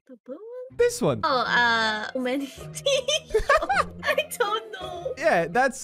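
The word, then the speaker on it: Omanyte: Try to pronounce this Pokemon. The blue one? This one. Omanite. I don't know. Yeah, that's Omanite.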